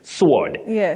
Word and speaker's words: sword: w a r d sword s w Rd you say sword a sword for the weapon bet okay that's an